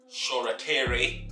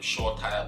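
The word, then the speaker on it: Shoretire: happy to see um shorakiri which is the correct pronunciation of his name i was calling him short tire before but sure he's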